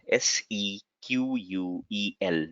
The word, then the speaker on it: SQL: Somebody say um, uh, typically in the industry there are two acronyms used. Either somebody will say it is a SQL because the full form is structured query language, and some folks in the industry also say it is SQL, SEQUEL. That is how they pronounce it, SQL.